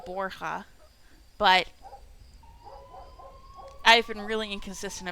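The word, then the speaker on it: Borja: I decided on Boura and I'm just sticking with it. When if this game took place in Spain, it would definitely be Borha, but I've been really inconsistent about pronouncing Cathy's last name.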